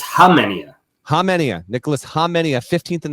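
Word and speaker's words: Khamenia: Nicholas, is it Kamenia? What? K is silent. It's Hamenia.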